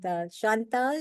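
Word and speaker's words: Chantal: you Steve bye shant Shantal is that how you pronounce your name yes Shantal yes lovely French French pronunciation looking forward to see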